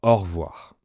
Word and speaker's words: au revoir: Généralement, on prononce au revoir.